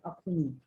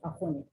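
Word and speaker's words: akhuni: like smoke pop afoni oh it's like akon and not akumi you know a lot many people pronounce as akini but it's akoni and uh uh the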